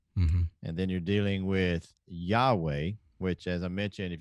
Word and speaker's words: Yahweh: Jehovah is not actually a real word. That's actually a mispronunciation of the word Yahweh.